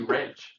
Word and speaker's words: Reg: Well, I'm actually Reg. I'm known as Reg, so Greg with a silent G.